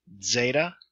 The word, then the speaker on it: zeta: Zeta, the DZ as in blades, zeta.